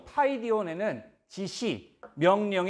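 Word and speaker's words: παιδίον: 흘러 이렇게 수 구요 우리말로는 파이디온 이라고 읽습니다 이 단어에 담긴 뜻을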